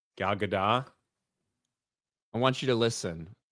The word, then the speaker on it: Gal Gadot: know that we've had arguments about how to pronounce Gal Gadot's name. Gal Gadot?